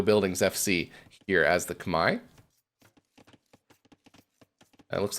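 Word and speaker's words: Khmer: which I guess is about as close as you can say it in English to the way that they would say it in Cambodia I know most players refer to it as say kamur or k but I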